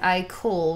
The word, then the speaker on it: Ikol: if I would do a channeled video with I Cole which is one of the characters in the